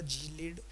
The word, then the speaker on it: Gilead: Then GI Lead Sciences, or G Lead, you can pronounce it that way.